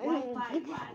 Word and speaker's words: Wi-Fi: What to do, fire? De hecho, se pronuncia Wi-Fi.